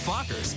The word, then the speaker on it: Fockers: see meet the um how do you pronounce it oh just like it's spelled f-o-c-k-e-r Meet the Fockers in theaters December 22nd